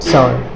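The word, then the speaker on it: sword: यहाँ पे भी ये डब्ल्यू क्या हो जाएगा, आपका साइलेंट हो जाएगा, तो क्या हो जाएगा, स्वॉर्ड।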